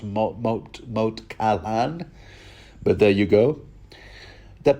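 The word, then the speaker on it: Moat Cailin: So ultimately the aim is to recapture Moat Catelyn, which I'm told is actually pronounced Moat Caillan, but there you go.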